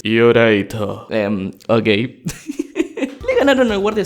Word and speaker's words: Iolite: Gecko, deja de decir Iolite, pronuncialo bien. Pero ¿cómo se dice entonces? Yoraito.